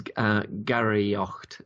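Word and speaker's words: Garaíocht: is first of all what is Gary yokte and have I pronounced that correctly absolutely correctly yes Gary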